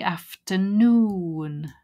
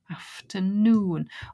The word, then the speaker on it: afternoon: is on more and I can see noon so it must be afternoon stress on the noon afternoon oh actually that might